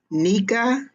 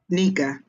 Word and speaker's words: Nika: Oh, she said it's pronounced Nika. Nika.